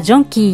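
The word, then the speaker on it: jonquille: ミモザと言いますキズイセンは女性名詞でらジョンキー湯らジョンキーと発音します最後に菜の花これ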